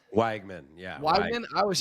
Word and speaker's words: Weigman: Weigman. Yeah. Weigman.